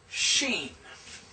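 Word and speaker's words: שׁין: But the dot on this side is S with a little carrot and that means sheen. So, this is S and this is SH.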